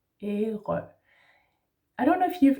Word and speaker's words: Ærø: So we say Æ, like æble, then you have an R in the throat, Æ, and then Ø, Ærø.